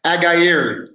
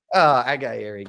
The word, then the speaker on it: Aghayere: Please welcome Aghayere. Yeah, close. Aghayere, yes, sir. How do you say it? Aghayere. Aghayere.